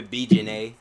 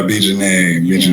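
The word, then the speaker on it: B. Jenet: So you pronounce it like I'm a B Jeanette. Oh yeah, B Jeanette.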